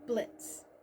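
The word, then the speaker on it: Blitzø: It's about an imp named Blitz, with a silent O, and his company, immediate murder professionals, his relationships, his life, and so much more.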